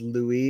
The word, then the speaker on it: Louie: My name is pronounced Louie. It's a French name.